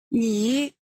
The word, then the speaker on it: 你: It sounds like ni in English, but you have to raise the tone a little. 你 Hao means good.